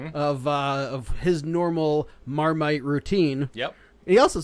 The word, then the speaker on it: Marmite: it correct he said it's not miramite or maramite it's marmite there's no second a well you know us